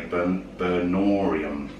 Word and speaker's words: Burnorium: I can never pronounce it properly. Burnorium.